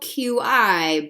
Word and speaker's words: qi: It's spelled Qi, but it's pronounced qi.